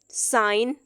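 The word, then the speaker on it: sign: एंड पे आ रहा है, तब हम इसको प्रोनाउंस जी को नहीं करते हैं। असाइन, फॉरन, साइन।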